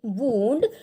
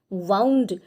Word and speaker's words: wound: तो जख्म को बोलेंगे WOUND वूंड और जो रस्सी गोल लपेट करके रखी है उसे कहेंगे वाउंड. स्पेलिंग सेम है लेकिन प्रोनाउंसिएशन डिफरेंट है और मीनिंग भी डिफरेंट है.